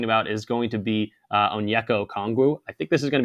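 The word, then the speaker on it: Onyeka Okongwu: the dude's name um it's been like a botch job all throughout YouTube it's on yo kongu that's his name but we're going to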